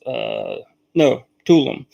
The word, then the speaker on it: Tulum: Tulum, Mexico, is actually pronounced Tulum.